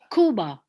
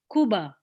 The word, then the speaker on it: Cuba: does spain spain but when it comes to two syllabis become cuba cuba so you put the stress on the ku kuba and well for iran iran